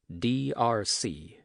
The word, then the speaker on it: D'Arcy: D'Arcy?" Hilliard said the master's name in 3 distinct syllables like letters, D.R.C.